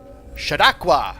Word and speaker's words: Chautauqua: long weekend up in chautauqua i think i was saying it wrong before Chautauqua Chautauqua New York went